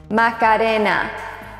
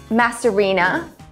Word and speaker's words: Macarena: people can pronounce it it is macarina not masarina macaroni Macadamia M yummy Margarita